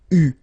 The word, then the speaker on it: eu: Okay, but you will have to pronounce it u. So remember, main difference or big difference between what you write and what you pronounce. So you write it like that, u, but then you pronounce it u.